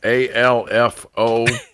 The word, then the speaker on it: Alfo: How you pronounce his name? ALFO.